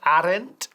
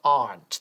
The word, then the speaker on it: aren't: Y fíjate, no decimos aren't, sino aren't.